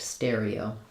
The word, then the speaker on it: stereotype: So we have a stress on stereo and a secondary stress on type. So it's going to sound like stare, E-O, type. And between the E and the O, you'll notice we do a little vowel-to-vowel linking there, E-O. So naturally a little y sound will happen as we connect stereotype.